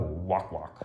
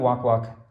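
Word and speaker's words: Wak-Wak: good um island of walk walk i believe it's pronounced that way i think i pronounced it wrong in the in the other video i actually had to look it up online it's from arabian nights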